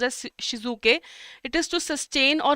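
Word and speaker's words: Shitsuke: Key everyday I'll follow this and shik uh then there is shizuk okay it's pronounced as shizuk.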